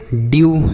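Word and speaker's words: dew: स्यू डी ई डब्ल्यू इसे पढ़ेंगे ड्यू ठीक है ड्यू एफ ई डब्ल्यू इसे पढ़ेंगे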